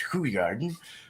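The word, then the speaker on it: Hoegaarden: though lambeck's peterman and who garden is pronounced hui garden beer in belgium goza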